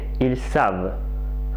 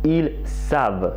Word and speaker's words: savent: savent oh là là beaucoup d'étudiants qui oublie de dire sable de prononcer le voeu sonore quand ils comptent double à la troisième personne plus riez lui il sait mais ils savent elle sait mais elles savent le deuxième vers se connaître